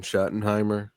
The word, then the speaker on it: Schottenheimer: the whole hiring process and just promoted Brian Schottenheimer. Am I saying his name wrong?